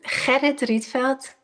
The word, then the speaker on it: Gerrit Rietveld: this correctly, is it Gerrit Rietveld Art Academy of Amsterdam? Almost. The Dutch G is very difficult. Gerrit Rietveld.